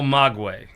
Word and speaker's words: Maguey: It's El Magway. El Maguey.